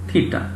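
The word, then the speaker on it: theta: আমরা চিহ্ন প্রকাশ করছি ইংলিশ এবং বাংলায় লিখেছি থিটা, উচ্চারণটা হয় মূলত কি থিটা।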